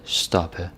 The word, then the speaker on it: stoppe: Krop, stop, pop, oppe, stoppe, hoppe. Yeah, the P is not so pronounced. It almost sounds like a B, right?